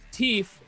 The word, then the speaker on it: tiefling: As Well, tiefling is derived from the German language, it should be pronounced like a German word, exactly like in the video if you click on it. The TIE sounds like T or T, like TEETAE, and then fleen, which teef means something like deep, and